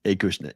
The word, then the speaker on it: Acushnet: It's Acushnet.